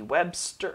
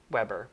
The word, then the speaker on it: Weber: this is by vicky webster webber sorry i don't know why i keep i every time i say her name i try and add an s weber sorry vicky but it's